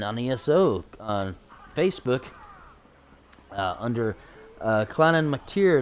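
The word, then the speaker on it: Clann Mactire: You can even check out this clan on ESO on Facebook under Clannan McTier. That's spelled CLANNMACTIRE, like tire, but it's actually pronounced tier.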